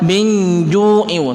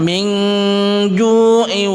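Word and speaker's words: مِنْ جُوعٍ: Cara membacanya adalah kita samarkan, tidak boleh kita membaca min ju'i, tidak seenaknya membaca, akan tapi kita samarkan min ju'i.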